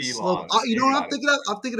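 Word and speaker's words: Saros: Not Seelovs. Seelovs. Who am I thinking? Slovis.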